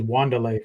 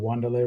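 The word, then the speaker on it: Wan'Dale: Wandelle Robinson or you know before I knew how to pronounce his name I thought it was Wanda for a while. Wandalay Robinson.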